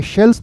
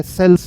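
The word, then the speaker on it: sells: अगर मैंने इसे, देखो मैं इसे शेल्स बोलूंगा जबकि ये सेल्स है, सा है, शा नहीं है। अगर मैंने इसे शेल्स बोल दिया तो गलत हो गया।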